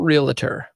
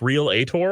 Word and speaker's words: realtor: to be clear it's a realtor it's not realtor so i'm just throwing that out there i'm pretty sure it's pronounced real ator it is it is not evan it goes